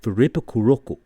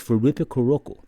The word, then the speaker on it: フリップクロック: You can pronounce it Furippukurokku. And again, there's no L sound. Now they're not trying to say flip clock. That is a word. It's Furippukurokku.